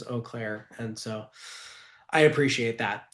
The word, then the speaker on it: Eau Claire: So, I'm in front of a group of like 100 people, and I keep saying you Claire, and um people came up to me afterwards and and told me that it was Eau Claire, and so I appreciate that.